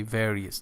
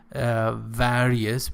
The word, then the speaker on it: various: Okay, various. Do not pronounce this word various, which is a typical mistake.